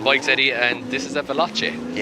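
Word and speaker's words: Veloce: It's a Velace. Velace. I love Italian cars in bik. And this is a Velace.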